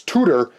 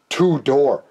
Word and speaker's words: Tudor: It's Tudor, as in like a teaching tutor, not two-door.